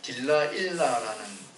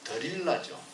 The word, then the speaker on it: 들릴라: 그가 데뷔할 때 딜라일라라 하는 노래 제목으로 데뷔를 했습니다만 딜라일라라는 발음은 영어 발음이고 우리 성경에는 들릴라죠. 들릴라. 또 영화 제목은 어떤 데는 델릴라 그렇게 표현하죠.